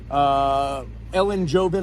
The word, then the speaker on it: Ellen Jovin: Ellen Jovin, I'm saying it right?